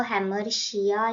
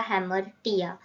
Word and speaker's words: hamartia: इसको हेमर्शिया या हेमर्टिया दोनों बोलते हैं, तो आपका कोई भी प्रोनाउंसिएशन हो वो करेक्ट है।